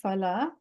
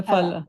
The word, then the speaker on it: फल: It's Phala, not Phala. Oh, okay, Fala.